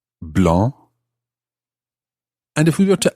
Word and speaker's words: blanc: exactly the case with the word for white blah is spelled b-l-a-n-c blah and if we were